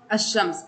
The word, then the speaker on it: الشمس: على الكلمه المضافه اليها عند اضافه اللام الى كلمه الشمس تصبح الشمس وتلفظ الشمس اي بدون اللام اي ان اللام لا تلفظ بينما عند ادخال اللام